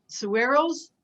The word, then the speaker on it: saguaros: That the Saguaros, that's the right, how you pronounce it, they are more earth-based.